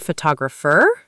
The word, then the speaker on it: photographer: And photographer? Second syllable too, photographer.